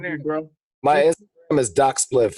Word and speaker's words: Doc Spliph: My Instagram is Doc Spliph. It's real simple. DOC SPLIPH. Pretty much like how it's spelled now.